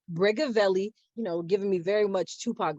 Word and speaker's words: Brigavelli: If you are interested in knowing how to pronounce her name, it is Brigavelli, giving me very much Tupac vibes.